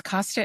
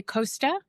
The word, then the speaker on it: Costa: Did I pronounce that correctly? Yes, Costa is fine. Sometimes if we're in Europe, people will say Costa or other regions.